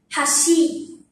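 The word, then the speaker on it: 橋: Đối với phần cầu nối, chúng ta phát âm là "hashi". "Hashi" bắt đầu ở âm thấp.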